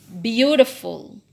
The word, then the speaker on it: beautiful: Word with 3 syllables usually, okay, I said usually, stress in the first. Di stress di depan. Example. Beautiful. Okay, ini dibaca beautiful, bukan beautiful. Bukan ya, tapi beautiful. Condiment.